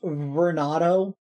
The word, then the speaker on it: Vernado: My gosh, maybe you've become Beronado. It might be Beronado, actually. I'm not sure. My gosh, it's always a tricky one with the vowel followed by the R sound. It's pronounced Vernado.